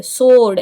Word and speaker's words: sword: धनुष विद्या, और सोर्ड्समैनशिप, ये स्वॉर्ड नहीं है, व नहीं आएगा यहाँ पे, सोर्ड SORD, ये समझ लो कि यहाँ पे W साइलेंट है, मतलब ये W है ना, ये W ये साइलेंट है, तो आप अब इसको